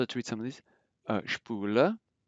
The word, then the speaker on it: Spule: SP is pronounced like it as if it were SHP. So let's read some of these. Spule. Spule.